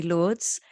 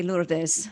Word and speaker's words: Lourdes: I grew up in England, so I tend to say Lourdes. But I know all right, the very good. Spanish say Lourdes. Yeah.